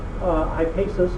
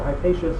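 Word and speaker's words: Hippasus: Well, a person by the name of Hypasus, or Hypatius, sometimes you'll hear it pronounced, was working on this idea of the diagonal of a square with side length 1.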